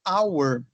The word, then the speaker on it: hour: Aqui, essa primeira palavra, eu tenho H-O-U-R, mas eu não pronuncio tudo. Como assim não pronuncio tudo? Eu falo hour.